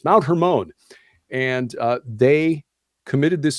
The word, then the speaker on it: Hermon: Hermon actually I had to look up the pronunciations Mount Hermon and uh they committed this sin which they